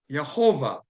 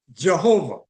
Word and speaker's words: Yehovah: And then the Jehovah Witness said Jehovah, but there's no J in Hebrew, so or Greek, and so therefore they just said Jehovah where it should be Yehovah.